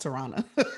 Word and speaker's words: Tarana: to say real quick my name is pronounced tirana i know i i